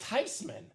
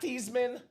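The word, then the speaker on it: Theismann: Look at how it's spelled. It's a German name."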